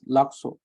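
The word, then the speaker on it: Lhasa: khala sake tukintu lasso, or some may also pronounce it as lakso, where they stress on ka. But this is more preferential. It's more personal preference. If you want to make it a smoother sound like lasso, or if you want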